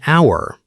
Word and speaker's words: hour: For example, we say an hour because the H in hour is silent.